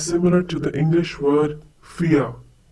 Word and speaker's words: vier: Vier. Once again, vier. The pronunciation is similar to the English word vier. We have already learned that the German V has the same sound as the English F.